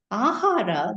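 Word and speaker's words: āhāra: very it's very simple ahara the word in Sanskrit which translates itself into food has two syllables in it ah and R okay ah means from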